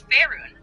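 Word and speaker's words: Faerûn: I'd assume you just want to tell Lae'zel that the correct pronunciation of Faerun. Yeah? Ryan. Correct her ass. It's Faerun.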